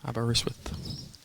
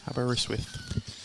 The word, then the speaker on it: Aberystwyth: Pronounce that place where Mark's from. I did yesterday. Aberystwyth.